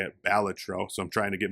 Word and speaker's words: Balatro: you're supposed to say it, Balatro.